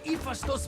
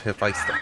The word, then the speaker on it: Hephaestus: the site where Hephaestus built a home for Aphrodite.